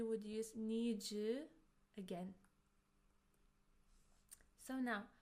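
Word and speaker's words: の: Particle no is a possessive particle. It's pronounced as no, no, and it shows that something belongs to someone.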